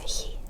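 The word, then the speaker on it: ㅎ: Okay, it's a he. Same thing. So this is it's very very soft, very airy. It's not a never. It's very very gentle. Okay. It's not a harsh sound. Okay. It's very soft.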